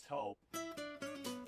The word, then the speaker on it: Toop: No, I'm pretty sure it's Toop Insurance. Maybe Toupee. Could be Toupee. Yeah, I don't know. Or Taupe Insurance, maybe? I don't think so. Say it right. That's T-O-O-P. That's Taupe. Oh, it's Taupe.